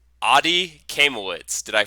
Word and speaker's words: Kaimowitz: have to help me with your name Adi camel woods did I pronounce that correctly awesome all right and thank